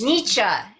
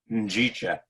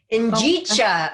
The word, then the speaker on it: Njicha: It's Nietzsche. Nietzsche? Not nice try. Nice try. Njicha. Njicha.